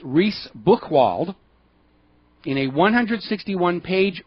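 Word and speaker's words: Reice Buchwald: US District Judge Naomi I think it's pronounced reys book Wald in a 100 61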